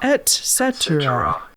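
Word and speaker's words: etc.: I have anxiety etc etc etc okay so it's not with an X sound etc etc etc and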